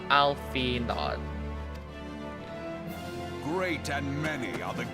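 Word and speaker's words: Alphinaud: It's not pron like Arnold. It's not pronounced Arnold now. Alfod.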